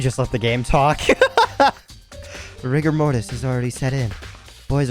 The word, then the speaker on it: rigor mortis: is is he's wow or maybe rigor mortis which i found out is actually how you're supposed to pronounce it's not riga mortis uh he appears to